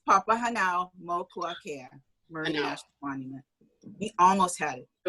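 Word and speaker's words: Papahānaumokuākea: um let you pronounce papahana mukeakea almost almost it's papa hanau multicare we almost had it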